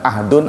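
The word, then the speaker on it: عهد: Ada ahdun, ada akdun. Diucapkannya mirip ya. Ahdun pakai H. Ahdun.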